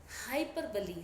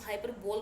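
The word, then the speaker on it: hyperbole: एच ओ एन वाई हाइपर बली spelling होती है एच वाई पी ई आर बी ओ एल ई आप में से कई लोग इसको हाइपर बोल बोलते but right pronunciation is हाइपर बली इसको हम हिंदी में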